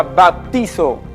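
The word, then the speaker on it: βαπτίζω: La palabra bautismo viene de la palabra griega que se pronuncia baptizo y significa sumergir, zambullir,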